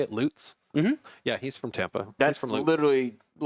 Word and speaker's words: Lutz: Lutz?